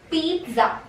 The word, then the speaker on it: pizza: Okay, so the correct pronunciation of this will be pizza. Pizza. Okay, there's a T. You will pronounce a T in between.